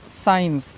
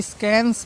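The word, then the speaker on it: science: ई एन सी ई साइंस ठीक है बहुत से बच्चे इसको स्कैंस पढ़ते हैं स्कैंस ठीक है साइंस पढ़ना है फिर मस्कल पढ़ते हैं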